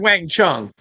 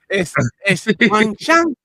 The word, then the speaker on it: 晚上: 晚上 or yeah or 晚上 I heard Wang Chung. No, it's Wang Shang with the S.